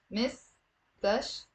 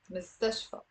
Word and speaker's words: مستشفى: Okay, it's three syllables. Most of my students have a difficulty pronouncing this word. Say it with me. مستشفى. مستشفى.